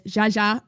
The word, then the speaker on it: jaja: For people who don't know Spanish, Jaja is J is pronounced as H in a lot of Spanish, so it's just haha. It's literally haha.